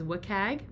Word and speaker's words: WCAG: Many times you will see them abbreviated with the WCAG acronym, and you might hear them pronounced and referred to as WCAG.